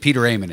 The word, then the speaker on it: Peter Aman: public service announcement about how to pronounce your name which still continues but Peter Amon is here well I'm glad it worked at least with you that you have the pronunciation perm I mean my own mother couldn't do it any better well if I get that